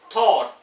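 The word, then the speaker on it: thought: किसी वर्ड के लास्ट में जी एच या जी एच टी हो तो जी एच यूजुअली साइलेंट रहता है।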